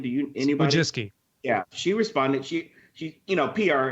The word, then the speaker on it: Wojcicki: So and that Susan, I can't pronounce her last name. Do you anybody? Wojcicki.